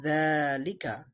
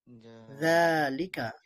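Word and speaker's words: ذٰلك: তেমনি ভাবে এটা লেখা আছে যালিকা, কিন্তু আমাদের বলতে হবে যালিকা, যালিকা। যা এর মধ্যে এক আলিফ টান দিয়ে পড়তে হবে।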